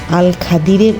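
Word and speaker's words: الخضر: আল খাদিরের অভিধানিক বিশ্লেষণ ও হাদিসের ভাষ্য। আরবি ব্যাকরণ অনুযায়ী এই নামের সঠিক উচ্চারণ হলো আল খাদির, যার অভিধানিক অর্থ সবুজ বা শ্যাম নীলাময় ঘেরা সতেজ অবয়ব।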